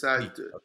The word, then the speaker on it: Priit: We have So it's like the Spanish. There's like yeah, a Priit. Yeah, okay. it's Preet. yeah. So that's my how you say it in Estonian.